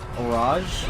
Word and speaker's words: Orage: Orage is pronounced similar to barrage or homage.